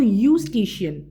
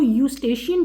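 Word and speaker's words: Eustachian: यूस्टिशियन भी कह सकते हैं। आप लोग क्या कह लो? यूस्टिशियन। दोबारा बता रही हूँ, ई साइलेंट है यहाँ पे। यूस्टेशियन ट्यूब है।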